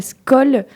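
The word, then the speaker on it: skol: Donc les deux se valent et la scool s'écrit s k o l pour les gens qui se disent mais comment je peux c'est facile faut penser à comment on dit à la tienne en norvégien et puis voilà c'est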